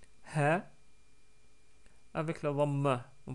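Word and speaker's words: ه: lettre he est facile si vous connaissez l'anglais ce son là bien sûr nexiste pas en français mais en anglais on le trouve plus ou moins dans le son du H dans les pronoms par exemple he his her et cetera donc si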